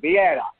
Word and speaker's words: Vieira: Is that pronounced correctly? Vieira. Thank you, Vieira.